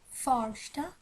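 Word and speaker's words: första: ফর্স্টা ফর্স্টা এখানে উচ্চারণটা এরকম হবে। ও অথবা স্বরেয় দুটোর কোনোটাই হবে না, দুটোর মাঝামাঝি হবে উচ্চারণটা।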